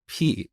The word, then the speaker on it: pi: this back in iran we pronounce it as p and i think greek people also say p but anyway i just